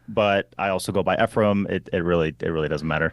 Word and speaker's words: Ephraim: Yeah, so it's Ephraim or Ephraim or Ephraim. There's so many different weird pronunciations of my first name. Every country I go to says it's supposed to be said a different way.